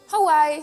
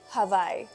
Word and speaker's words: Hawaii: cambiar la w por la B de vaca entonces en lugar de decir Hawaii se dice Hawaii I knowing después de escuchar tanto la canción de Maluma de Hawaii quedé impactada que no se pronuncia así que si van a